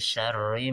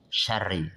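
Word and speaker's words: شَرِّ: Contoh adalah min syarri ma khalaq. Syarri nah ya. Itu ri kasrah maka dia dibaca tarqiq tipis syarri.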